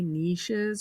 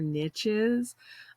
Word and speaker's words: niches: are in the world you might say niches or niches I kind of like that it rhymes with riches riches in the niches this is an important